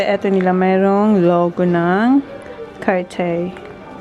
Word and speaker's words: Cartier: Pati eto nila mayroong logo ng Cartier. How you say it? Cartier. Cartier.